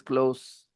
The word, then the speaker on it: close: reading an adjective so it is not close it is close close with s with not Z close close Okay so